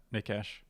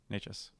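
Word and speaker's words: Nečas: I would probably sit Nekash. Is that how it's said? I can't remember. Nekash? Nachas. Right. Yeah, Nachas.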